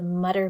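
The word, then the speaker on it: Mütter: famous museum in Philadelphia called the Mutter Museum or mutter I don't know how to say it I think it's a German name m u t t e r but the U is like an oow anyway it's a collection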